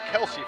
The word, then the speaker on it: Kelsey: Yep, and I think I said Chelsea. It's Kelsey Forrester, as you correctly pronounced, the 5'7" guard from Davis.